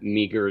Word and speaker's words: Meagher: the first name and Meagher is the last name.